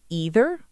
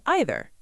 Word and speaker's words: either: Either actually has two very common ways to pronounce it. You can say either, or you can say either. Both are completely correct. You'll hear both in American English, and British English uses both as well.